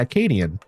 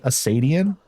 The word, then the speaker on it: Acadian: You actually said it properly too. Well, in English, but you said it right. Yeah. Acadian. How do people How do people mess it up? Do they say like Asadian accadian?